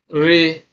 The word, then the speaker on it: return: re is a prefix return return this re being a prefix is not uh stressed so stressed is on